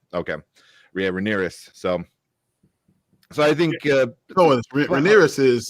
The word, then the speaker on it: Rhaenyra: How do you pronounce the daughter's name? Like the Rhaenyra, right? Okay, yeah, Rhaenyra.